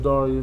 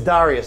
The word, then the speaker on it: Dareus: It's spelled with an E, not an I, so it's Dareus. It's Dareus.